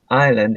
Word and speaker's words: island: Choose the word which contains the silent letters indicated. Silent is island history first island.